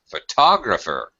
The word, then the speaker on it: photographer: right there you go the stress is moved from the first syllable to the second syllable photographer or photog graphy why